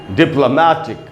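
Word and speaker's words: diplomatic: डिप्ल, ल के बाद आप देख रहे हैं आधा है ब्रैकेट में, यानी आपको ल पर थोड़ा सा रुकना है, बोलेंगे डिप्लोमैटिक। मै में जो ए है उसी पर स्ट्रेस है, मै पर रुकना है, बोलेंगे डिप्लोमैटिक, डिप्लोमैटिक।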